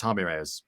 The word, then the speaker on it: Jaime Reyes: that's right jaime reyes it's pronounced harmony rares sorry i keep forgetting that because then when you read it i read it as jaime but then you hear